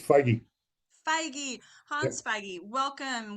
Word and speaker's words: Feige: It's Feige.